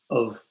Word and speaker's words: of: my phonetic chart gone it's that very special unstressed vowel sound a bottle of bottle